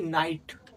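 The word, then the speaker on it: night: কি নাই আর টি মানে ট মানে কি নাইট আবার দেখ এস আইজি এইচটি কি হবে সাইট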